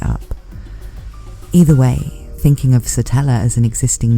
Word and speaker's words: Satella: at the end, and the fact it rhymes with Nutella. So some people are named it, but their parents made it up. Either way, thinking of SATELLA as an existing name